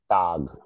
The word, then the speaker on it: Tag: A is pronounced as A. Okay, this is A. That is why you call it tag.